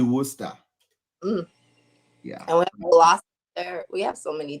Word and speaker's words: Worcester: would probably read that is it Worcester yeah yeah it's actually Worcester um we have so